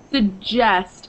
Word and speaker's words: suggest: Suggest. It sounds suggest. Like a J.